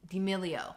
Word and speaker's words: D'Amelio: Charlie D'Amelio.